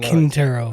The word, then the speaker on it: Quintero: Quintero.